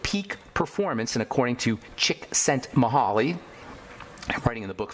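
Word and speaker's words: Csikszentmihalyi: h a l y i his name is pronounced chick sent mahali he's the University of Chicago professor and he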